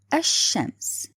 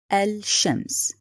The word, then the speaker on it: الشمس: The example here, the word الشمس. Did you notice I didn't pronounce lam? I didn't say الشمس. No, I said الشمس. So in this case, the lam is written but not pronounced.